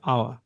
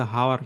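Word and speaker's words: hour: যেমন আই am standing here for আওয়ার, এটার উচ্চারণ কিন্তু আওয়ার, এটা কিন্তু হাওয়ার না। তো এখানে এইস এর কোনো কাজ নাই, এইস এর উচ্চারণ হয় না, কিন্তু বানানের মধ্যে আছে।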